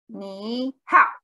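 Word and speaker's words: 你好: Fourth tone, it should be third tone. Yeah, they wrote it like ni hao. And we don't say that. We don't say it like that. So, this, say it like ni hao. Right, this should be third tone. And then if we have two syllables next to each other, two characters next to each other that are both third tone, we're going to change this one to be second tone.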